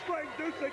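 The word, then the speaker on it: Frank Dusek: My name is Frank Disick. That's spelled D-U-S-E-K.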